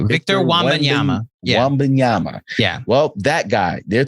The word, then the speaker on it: Wembanyama: I can't even pronounce his name. Victor Wembanyama. I think I got it right. Victor Wembanyama. Wembanyama.